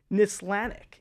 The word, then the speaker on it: Nislanik: It's Nislanik. Is that, am I saying it right? Yes. Polish, Nislanik, yes.